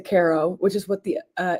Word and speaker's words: Caro: But the problem is that they pronounce it, but I can't really say it correctly because I can't. Um but it's like with the rolled R and I can't do a Rald R.